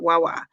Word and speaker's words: Wawa: Wawa.